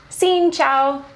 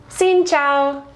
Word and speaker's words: xin chào: And also what's helpful is knowing Xin Chao, Xin Chao. And this one's a lot tougher because from our understanding, the pronunciation of this is different in both the